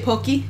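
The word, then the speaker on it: Pocky: very hard for me I try to say pokey which is the correct pronunciation but I end up saying papi a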